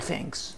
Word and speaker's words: thanks: بعد كده طبعا الطرف الآخر اللي اتقال له الكلام ده هيقول thanks. Thanks ركز في النطق برضو عشان ال th هنيجي بالتفصيل في نطقها. ال th ليها نطقين مختلفين الثاء والذا.